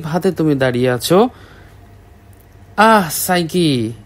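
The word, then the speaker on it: Psyche: Lamp হাতে মনে হচ্ছে সাইকি নিজেই চলে এসেছো সাইকি আবার কে? এইযে ইনি হচ্ছে সাইকি। সাইকি না আসলে এন উচ্চারণ হবে সাইক।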